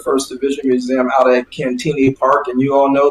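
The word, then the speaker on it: Cantigny: division museum out at cantini park and you all know that that's the different way that the french pronounce it but that's the way it's been pronounced here for decades so people who are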